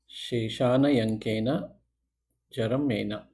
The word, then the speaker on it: Shesanyankena Charamena: Uh once again a long name it's pronounced as shana yanka shana yanka jerina so what's the translation English is the remainders